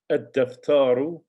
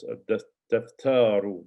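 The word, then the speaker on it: الدفتر: Ad-daftaru, remember dal is a sun letter. Ad-daftaru, the notebook.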